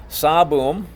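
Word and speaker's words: 사범: one is boosts a boom boo like in Halloween boo saboom and we've heard that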